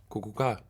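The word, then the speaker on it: Kukułka: How do I pronounce this? Kukuka? Kukuka.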